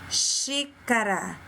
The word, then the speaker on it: xícara: Próxima palavra, árvore, xícara, família. Observa que fica forte e um som aberto.